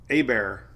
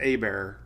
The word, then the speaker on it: Hebert: Hebert, not even Hebert, it's Hebert. Pronounced Hebert. Hebert.